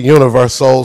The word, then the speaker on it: Universoul: with me the national tour promoter of the Universoul Circus, Mr. Tony Starling. You know what? I am so excited to be here. You said it correctly, Universoul Circus.